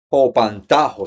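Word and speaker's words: ὑπαντάω: al encuentro, la palabra es Hopantajo, se pronuncia así. Se escribe Hipantao.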